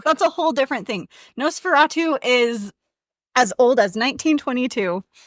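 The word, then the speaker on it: NOS4A2: series by Joe Hill called No Fatu but it's spelled nos4 A2 and it looks like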